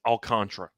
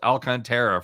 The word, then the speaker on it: Alcantara: go through by the way memorabilia it is pronounced alcontra yeah we've uh we have looked it up it's pronounced this has been a deal it was pronounced alcantara for the first two two seasons by us